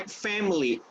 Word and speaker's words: family: Then I greet my family. Remember that this word family has only 2 syllables. You don't say family, all right? You say family. I greet my family, okay? So only 2 syllables, remember.